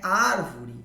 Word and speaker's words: árvore: Vamos pegar lá a palavra árvore como exemplo, né? O re seria a última, o vo a penúltima, o ar a antepenúltima.